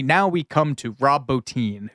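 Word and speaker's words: Bottin: we come to Rob botin whose name I don't know why it's pronounced like that it's spelled Boton but it's everyone calls it botin so sure um that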